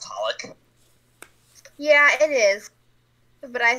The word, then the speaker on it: xxxHOLiC: Not to be a weeb, but I'm pretty sure it's just pronounced Holic.